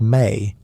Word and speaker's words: me: The mi pronounced may are the divine powers, the software of the gods, but they are physically embodied in objects.